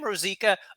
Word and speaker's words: Rosica: pronounced That's right. Rosica, but that's Rosica.